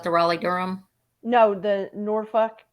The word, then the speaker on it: Norfolk: airport was that the Raleigh Durham no the Norfolk North Folk I can't even say it like that Norfolk Virginia okay n-o-r-f-o-l-k for the most part will